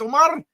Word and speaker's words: Omar: It's not really Omar, it's Omar.